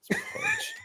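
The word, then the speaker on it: Pugh: people call me but it's actually uh Pudge Pudge I have to rewatch it if she if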